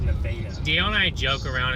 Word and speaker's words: Nevada: And then the one that looks like Nevada is pronounced Nevada.